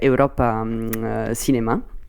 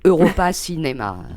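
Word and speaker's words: Europa Cinemas: fait partie d'un réseau qui s'appelle Europe cinéma je sais pas d'ailleurs si vous le prononcez comme ça c'est Europa cinéma voilà c'est on préfère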